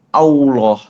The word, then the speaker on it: Allah: Pastikan saat ngucapin Allah itu lafaz jalalah yang benar, bukan pakai huruf W. Banyak orang yang kalau baca Allah dia malah gini, Allah, au, au, au, pakai huruf waw. Itu batal sholatnya, nggak sah. Harusnya bacaannya tuh Allah ya, kayak Allah, tapi karena lidah belakangnya dinaikin ke atas, huruf al-nya jadi kayak Allah, Allah, Allahu Akbar.